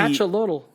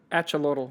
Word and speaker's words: axolotl: This is the axolotl. Axolotl. Usually, I mean, like I can in Latin America, in Aztec society, the X is a ch. Yeah. Right. So it's AX. So I would say axolotl because the TL is also.